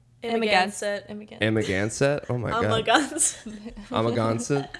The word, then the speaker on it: Amagansett: Louisville, Kentucky, Chicago, Columbus, Pittsburgh, Washington, D.C., Nantucket, New York, how do you say that? Amagansett.